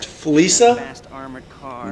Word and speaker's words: Fleeca: Fleeca? Did he just say Fleeca? I've been saying Fleeca the whole time. It's pronounced Fleeca.